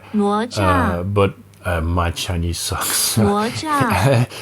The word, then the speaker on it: 哪吒: It's this kit, the Neza Pro Sports Kit, and I think in Chinese that would be pronounced as Nezha, 哪吒， but my Chinese sucks.